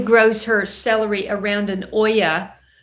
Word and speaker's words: olla: Holly grows her celery around an olla. An olla, O-L-L-A, pronounced like O-Y-A, is a clay water